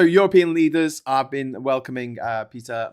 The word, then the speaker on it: Péter: Hey, Péter, and then the E as in bed, the R is slightly rolled. Péter.